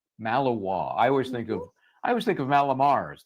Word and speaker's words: Malinois: Yeah, and pronounce that dog name for me. Belgian Malinois. Malinois.